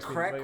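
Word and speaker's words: craic: I always thought crack was spelled C-R-A-I-C. Yeah, he's just spelled like crack as I'm going to step in a crack.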